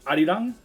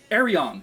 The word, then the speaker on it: Arirang: It's so funny because I think if you ask Siri to play the album, she's like playing Arirang by BTS, and I'm like, that's not how you say that. So I was like, I think it's Arirang is how you say it.